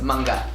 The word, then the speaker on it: manga: Okay, I want you to guess how do you say mango in Tagalog. Mango. Mango. Mango. Mango. Close. Manga. Manga. Oh, I was so close.